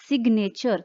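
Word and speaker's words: signature: लेकिन हाँ, अगर मान लो जीएन जो है वो मिडल में आ जाता है, जैसे ये वर्ड है सिग्नेचर, तो जी जो है मिडल में ही बोल सकता है सिर्फ।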